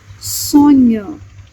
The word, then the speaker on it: sonho: When letter H is preceded by letter N, it sounds like ñ, like in Spanish. For example, sonho, sonho, which means dream.